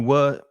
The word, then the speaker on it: were: So I was, you were, they were. That were is exactly the same pronunciation.